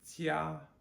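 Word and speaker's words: jiā: Another one, jia, which is J-I-A, 1st tone. Jia, 回家 means to go home. Jia means home or family. So we have da, which is big, jia, which is family.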